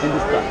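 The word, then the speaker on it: Hindistan: Hindustan.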